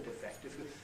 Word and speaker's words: defect: pronunciation for the word defect. They all said the noun was defect, right? The verb is always defect.